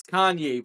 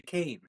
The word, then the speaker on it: Kanye: It's Kanye, but some of my plaques, they still say Kane."